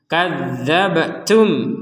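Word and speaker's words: كذبتم: hukum barunya gitu baik kadzabtum ada ba sukun kita pantulkan daabab seperti itu Jadi tidak sekedar dabtuabtu gak ada pantulan itu jadi harus ada pantulan kzabtum waun mim sukun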